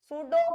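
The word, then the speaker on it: pseudo: इसकी डेफिनेशन पूछ लेता बेटा बोर्ड के पेपर के अंदर, सूडो फर्स्ट ऑर्डर इक्वेशन या reaction, सूडो first order reaction. तो देखिए क्या है इसके अंदर, पहले तो इसके अंदर पी साइलेंट है भाई, इसको सूडो इसलिए बोलते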